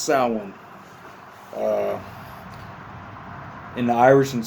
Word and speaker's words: Samhain: Uh it looks like Samhine, but it's Gaelic. It's pronounced sin.